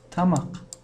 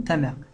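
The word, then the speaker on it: тамақ: Она пишется правильно тамак. Твердое слово. Тамак. Вот так она пишется. Но в Севере Казахстане вот это слово используют тамак. Они его, когда произносят, это тамак. Они вот так, это произношение имеют в виду. Но в письменном виде, вот, например, если вы услышите мягкую форму, тамяк, если вы так напишете, это опять неправильно будет.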